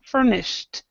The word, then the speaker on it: furnished: ed D but but in your mind when you see an sh think T Anon we want to